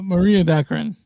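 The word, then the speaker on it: Morena Baccarin: Maria Baccarin.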